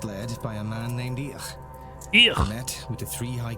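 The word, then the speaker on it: Íth: They came from Iberia, first led by a man named Each. Met with the three high kings. That's of how you Ireland, pronounce that name. members of the Tuatha Dé Danann. Why is ITH pronounced ich?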